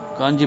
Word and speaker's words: கஞ்சி: கஞ்சி சீவாறு எக்கட உன்னாரு காஞ்சி பிரியவர் என்று விணவினார். அது பெரியவாளின் காதுகளில் விழுந்தது. கஞ்சி என்பதை பக்தர் கஞ்சி என்று சொன்னதை அவர் கவனித்திருக்கிறார். குடிக்கும் கஞ்சியையும் நாம் சி என எழுதினாலும் ஜியாகத்தானே உச்சரிக்கிறோம். எதிலும் பொருத்தம் காணும் அவரது இணையற்ற